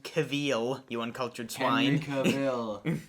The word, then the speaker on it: Cavill: It's pronounced Cavill, you uncultured swine.